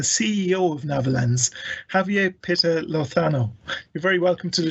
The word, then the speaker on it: Lozano: this week the ceo of netherlands javier peter lothano you're very welcome to the show javier hi